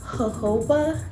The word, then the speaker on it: jojoba: it also has a I think this is pronounced jojoba so that's j-o-j-o-b-a so it has jojoba